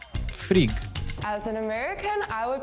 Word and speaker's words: Frigg: So in Swedish, we would say Frigg or Frigga. In Norwegian, we will say Frigg. In Danish, you would say frig. I kind of like that it's not always the same like amount of syllables, but again, it's Frigg.